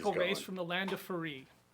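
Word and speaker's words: Faerûn: from the land of Faerû. Now, I say Faerû because I really don't want to pronounce it as fairy.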